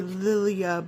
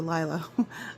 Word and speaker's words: Liliah: Lyla by Mandy Manzano I know it's spelled like it would be Lilia but I promise Mandy calls it lla I talk to her